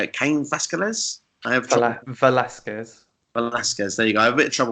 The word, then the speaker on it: Velasquez: I have trouble pronouncing Cain Velasquez. Velasquez, there you go.